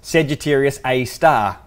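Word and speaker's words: Sagittarius A*: that one and if you hear the name Sagittarius a star it's actually spelt said you serious capital A asterisk but it's pronounced said you serious a star weird I can't even remember why that is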